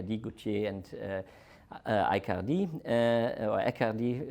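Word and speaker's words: Aicardi: and I can't even Accardi is right pronunciation and these excellent pre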